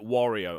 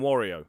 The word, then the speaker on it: Wario: Well, I grew up calling him Wario. It's got the word war in it.